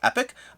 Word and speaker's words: Epoch: region dependent in somewh some places it's pronounced epic other places pronounced Epoch it does depend I